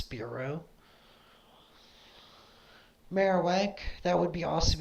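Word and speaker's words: Spearow: battling po people as Sparrow or speo it's pronounced speo it's it's like a combination of sparrow and spear so it's spearo marow that would be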